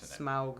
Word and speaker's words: Smaug: obviously smog is great smaug smaug is i feel weird saying it like this that's how you're supposed that's how tolkien says you're supposed to pronounce it how dare i